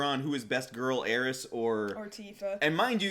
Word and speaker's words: Aerith: opinion of this show, we pronounce it Aeris. I understand people spell it Aerith, but... And so does the trailer. But you know what? I'm gonna say Aeris, and y'all gotta deal with it.